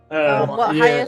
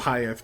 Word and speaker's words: Hayethe: But yeah, for those on the YouTube, I put in the chat, it's pronounced hi, like hi and yes, but if you were Mike Tyson.